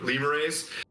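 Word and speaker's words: lemures: mashed and turned into lemon race like lemurs it's spelled like lemur lemurrays who can advance to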